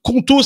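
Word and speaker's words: Qonto: Choisissez Contau, ça s'écrit Q O N T O pour vous lancer.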